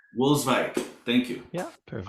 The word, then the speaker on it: Wolswijk: And is Wolswijk? Is that how it's pronounced? Wolswijk. Wolswijk.